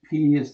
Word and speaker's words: pi: going to be p-shaped p is the we call it Pi but the Greeks would pronounce it P just like a the